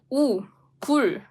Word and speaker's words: 굴: Whereas, as for this oo vowel, you need to make your lips round. It's 굴.